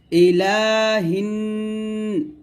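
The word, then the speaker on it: إِلَٰهِ: নাস এরকম একসাথে ইলাহি নাস আবার বলেন ইলাহিন গুন্না গুলো অবশ্যই সুন্দর আদায় করবেন ইলাহিনা এরকম তাহলে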